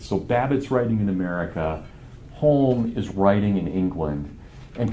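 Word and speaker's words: Hulme: So it's spelled like home, but it's actually said home.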